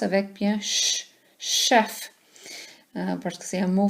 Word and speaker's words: chef: Faites attention, chef c'est un mot que les Anglais ont volé du français. C'est un mot français. Alors on le prononce avec bien ch, chef, parce que c'est un mot français.